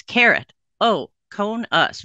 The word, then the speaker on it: keratoconus: I can't pronounce it so here it is it's carrot o cone us very easy if you break it down there you go you've learned something important tonight okay what is keratoconus so there two Greek